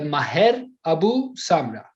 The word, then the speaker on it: Maher Abu Samra: Maher Abu Samra. Is the pronunciation correct?